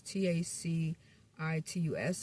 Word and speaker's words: Tacitus: Especially the way that I pronounced that word. I think I said it wrong. Those two words, T A C I T- U S and the other one C I R C A.